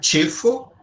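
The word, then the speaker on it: ĉefo: uma letra à parte, é o tcho. Ele tem o som de at, certo? Então aqui a palavra chefo, certo? Que é chef, tá bom? Chefo. Chefo. Tá vendo como eu falo?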